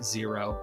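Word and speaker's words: Xero: do know people that use zero again spelled x e r o and so that's one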